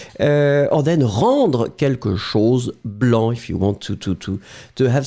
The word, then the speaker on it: blanc: have the feminine form blanche. So remember, masculine form blanc, B-L-A-N-C, you don't pronounce the final C.